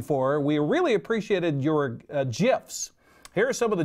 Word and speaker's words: GIF: Everybody says GIF, but I guess it's officially pronounced GIF.